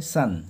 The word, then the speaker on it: son: আছে তো এর উচ্চারণটা সন এরকম করে থাকে কিন্তু আসলে উচ্চারণটা হয় সান ঠিক আছে সূর্য যেরকম হয় ওরকমই উচ্চারণ হয় সান তো দা ফুলিশ সান